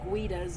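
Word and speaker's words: Gouda: bit I'm surprised uh gaidas or guidas as some people pronounce it hasn't gotten looted a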